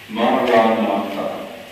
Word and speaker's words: Maranatha: And if you choose this word, this prayer, say it like this in 4 syllables: Ma-ra-na-tha. Ma-ra-na-tha.